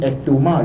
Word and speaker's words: estomac: dit pas en réalité on ne prononce pas réalité estomac mais on dit estomac le C à la fin ne se lit pas on dit l'estomac et